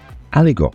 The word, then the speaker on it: Aligot: Aligot. Aligot. Aligot. So, what is Aligot? It's spelled A L I G O T.